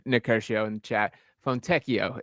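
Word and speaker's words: Fontecchio: Fonteio is the pronunciation. He is right on that now that I read that. That is uh Simone Fonteio there.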